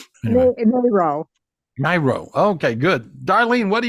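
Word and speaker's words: Mairo: your last name m a i r o marioo myo okay good Darlene what are you doing my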